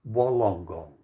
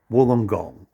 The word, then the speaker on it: Wollongong: wollongong now you notice the spelling it's wah long gong but we pronounce it wollongong now g long if it says g long